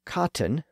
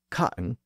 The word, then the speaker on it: cotton: And the same thing goes for cotton, which should be pronounced with the T sound, not cotton with the T left out.